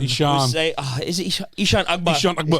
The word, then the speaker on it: Eshaan Akbar: is it Eshaan Akbar? Eshaan Akbar. Eshaan Akbar, yeah.